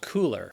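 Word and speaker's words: Coolors: Number 3 is an app called Cooler, which is color spelled with too many O's.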